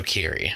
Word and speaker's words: Keery: Nah, it's Joe Keery. I knew it was a hard C or K sound, but it's been a while since I've watched Stranger Things.